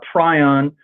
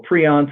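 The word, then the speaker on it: prion: This thing is a pryion or pron some people pronounce and it is very weird.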